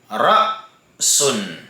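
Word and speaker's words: رَأْسٌ: Unang halimbawa, ra'sun. Ra'sun. So, pinutol po natin dito. Hindi po tayo dumiretso sa sin. Hindi natin sinabing rasun. Okay, rasun. Naam. Pinutol natin sapagkat yan po ay hamzatul qat'i.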